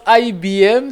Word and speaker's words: IBIM: Voilà, eh bien, ça se prononce IBM.